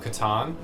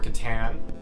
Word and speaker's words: Catan: a big hard-on for settlers of catan uh or katan maybe pronounce it right yeah you can pronounce it both ways either way we get